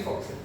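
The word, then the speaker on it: fo'c'sle: Yeah, it is actually foxel.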